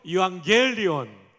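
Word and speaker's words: εὐαγγέλιον: 유앙겔리온. 정말 발음 찬양대가 대단히 좋습니다.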